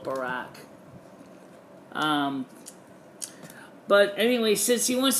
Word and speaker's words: Barack: It's like Barak. Like ack, or going to the bar, so Barak. But it's not because I'm trying to be rude. It's just that, it's just the way I've always pronounced it. Although sometimes I do call it Barack.